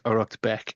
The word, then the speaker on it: Uraicecht Becc: which is known as aratbeck and so that's spelled U R A I C E C H T and it is Beck BCC.